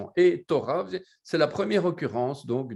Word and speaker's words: Torah: Maintenant, si le vav disparaît, on doit mettre un cholam autour et on doit prononcer Torah.